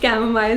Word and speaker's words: chamomile: Ella ने कहा है trying to figure out how to pronounce chamomile through comments, but it's the second one. You say smile in the end.